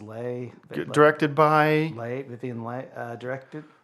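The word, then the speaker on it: Leigh: Vivian Lee. I pronounce it Lay.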